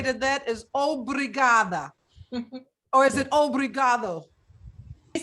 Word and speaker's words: obrigada: Okay, sister, what I have to say to that is obrigada. Or is it obrigado? You said it right, obrigada, Renata.